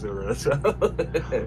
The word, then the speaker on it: Missouri: The fact you call it Mura cuz I call it Mura. Well, that's as I understand it, that is how the people of Missouri pronounce Missouri.